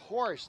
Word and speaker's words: Horsch: Grace Horsch, that's how you pronounce it.